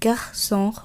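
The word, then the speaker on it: garçon: প্রথমেই আমরা দেখব ও এন অ, যেমন গার্সন অর্থাৎ ছেলে। ও উ উচ্চারণ হবে উ, যেমন বিজু অর্থাৎ গহনা।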